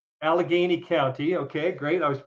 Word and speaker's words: Allegheny: How do you pronounce it, then? Allegheny. Allegheny County.